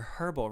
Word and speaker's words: herbal: one's just giving away Herbal Remedies all right or Herbal Remedies as they say in the UK horrible like what you just pronounce the h who does that I'm